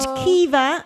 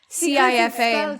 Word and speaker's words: Cifa: CIFA. CIFA. Oh, Cifa. yes, yeah. It's It's spelled a Welsh way, but it's actually an Irish name. You have Quiva, don't you?